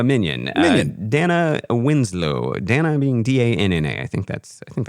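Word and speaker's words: Danna: Dana being D A N N A. I think that's I think that's Dana. Sure. Maybe Dana. Yeah. With the With the extra N. You have to pronounce the N longer.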